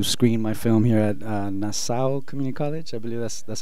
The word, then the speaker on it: Nassau: I'm from California, and I came to New York today to screen my film here at Nassau Community College. I believe that's how you pronounce it, right?